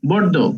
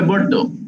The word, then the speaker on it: Bordeaux: No, Bordeaux. উচ্চারণটা হবে Bordeaux.